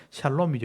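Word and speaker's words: שלום: 평강 평화라는 단위 평강이란다는데 샬롬이죠 여러분 잘 아시는 단어입니다 지난주에 제가 못 보여드렸는데 오늘은 제가 보여드릴게요 샤론 샤론이라고 되어 있는데 강하게 바라보면 샬롬이죠 샬롬 정확하게 발음하면 그냥 사가 아니고 오가 붙어 있는게 샬롬이에요 이런 발음이 잘 안 되죠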